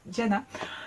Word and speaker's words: Gianna: Gianna, alors ça s'écrit avec un G, je sais la façon dont je le prononce, c'est avec un D. Voilà, Gianna.